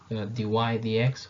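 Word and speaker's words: dy/dx: you have here, then dy dx this is pronounced dy dx, which means the rate of change of y with respect to the rate of change of x.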